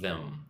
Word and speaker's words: them: Murad says, "How to pronounce th for example, both of them." So both is the hard one. Them is the soft one.